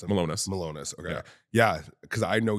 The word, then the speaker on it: Milonas: my last name yeah it's how do I pronounce it meus malonis okay yeah because I know you like specifically